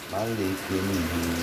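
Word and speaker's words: مَلِكِ النَّاسِ: Kalau misalkan hafalannya masih bacanya Malik panjang sekarang kita pendekin. Malikin bukan Malikinas. Salah. Malikinas.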